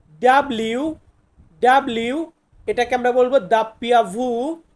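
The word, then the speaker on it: doppia vu: মানে হচ্ছে ভি ডাব্লিউ ডাব্লিউ এটাকে আমরা বলবো দাপ্পিয়া ভু বা দাপ্পিয়া ভি দাপ্পিয়া ভু বা দাপিয়া ভি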